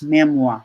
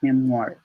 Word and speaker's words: memoir: can also be used that's pronounced as memoir not memoir and also used as